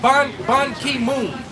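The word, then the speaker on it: Ban Ki-moon: his name is uh bon ki moon bon ki like like king but it's spelled k.i bon ki moon and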